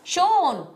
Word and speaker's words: Sean: It's pronounced as in Mr. Connery. The H was father's spelling mistake on the birth certificate. Oh, so it is Sean.